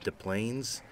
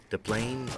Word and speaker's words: Des Plaines: uh memories come from De Plaines deplane or Des Plaines depending on how you pronounce it uh we were always poor so we always called it Desplaines but if you know